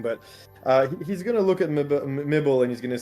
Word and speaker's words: Mibel: nibble like nibbles, but mibble. I got it. I get it. To be fair, Wrong the character syllable.